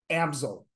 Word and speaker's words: Amsel: is pronounced Amazon so think about artist easel easel amsil um but uh even